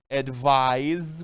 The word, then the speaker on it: advise: Primeira diferença é na pronúncia, né? Advise com pronúncia de S. Advise com pronúncia de Z.